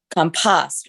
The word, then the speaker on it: compost: Compost rhymes with lost.